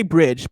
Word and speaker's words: BRDG: Bridge, I'm going to say Bridge, but it's spelled BRDG, is out for PC.